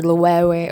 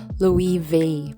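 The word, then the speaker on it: Loewe: Hindi pala siya Louis Louis or Lewe or what. Spanish brand siya according kay Google. So it's Louis vei pala.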